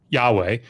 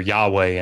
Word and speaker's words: Yahweh: this is debated, obviously, it was probably pronounced in antiquity as like Yahweh or Yahweh, I mean, probably Yahweh with a W, but certainly there's a